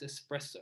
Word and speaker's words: espresso: A mistake many people make is go EX, espresso.